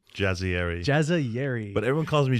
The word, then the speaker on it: Jazayeri: Jazzieri.